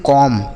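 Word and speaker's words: comb: तो इसे हम पढ़ते हैं कॉम्ब। क्या पढ़ते हैं? कॉम्ब। इसे कॉम्ब नहीं पढ़ेंगे। यहां पर जो बी लिखा है ना बच्चों, यह साइलेंट है। इसे हम नहीं पढ़ेंगे।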